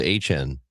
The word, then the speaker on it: Etienne: He said, actually, my last name is supposed to be pronounced H-N.